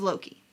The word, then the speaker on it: loci: Now, the oldest recorded use of a mnemonic device is the method of Loki. People have a couple different ways that they pronounce this word, Loci and Loci. I pronounce it Loki because, well, so, the